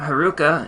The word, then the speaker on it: Heruka: The Sanskrit term Heruka is composed of 3 syllables, he, ru, and ka.